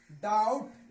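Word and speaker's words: doubt: क्या होगा साइलेंट होगा टी से पहले बी हो तो साइलेंट होगा पढ़ा जाएगा डाउट इसको क्या पढ़ेंगे डाउट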